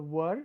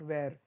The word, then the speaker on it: were: You pronounce this as a were, not where. It is not where, I were, or sorry, they were. It's not where, it's were.